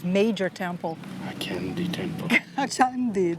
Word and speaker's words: Candi: I know what chandi means. Yes, sweets. No. The kind you eat. No, it means like a big, massive, major temple. A candy temple. Chandi, the right pronunciation is Chandi, Gordon.